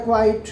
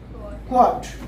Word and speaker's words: quote: गलत ही पढ़ते होंगे, आप बोलते हैं कॉट, है ना, यही बोल रहे हैं, है ना, कॉट, कोई बोलता है क्वाइट, है ना। तो ये वर्ड क्या है? QUOTE, क्वाट। यहाँ पर हल्का से स्ट्रेस देंगे, क्वाट, राइट।